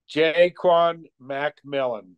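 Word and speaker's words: Ja'Quan McMillian: first of all okay he pronounced it this week and it is jayquon McMillan so it's McMillan okay that's what he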